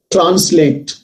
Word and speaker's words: translate: Translate. Stress on le.